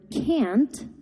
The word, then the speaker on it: can't: Therefore, the content word can't is pronounced with a longer stressed vowel sound.